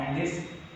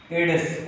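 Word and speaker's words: Aedes: And dengue is caused by female एंडीज, okay, it is not एंडीज, एडिस, okay.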